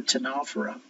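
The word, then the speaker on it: Ctenophora: bed they belong to a group called the tanara not T is silent and it looked very much like jellyfish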